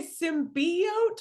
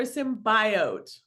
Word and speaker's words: symbiote: a symbiote I'm sorry did you say symbiote or symbiote both pronunciations are valid all the reasons to